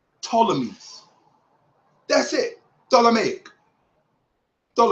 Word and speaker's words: Ptolemy: he keeps talking about potala means that's not how you pronounce it the P is silent it's just Ptolemy that's it Donna make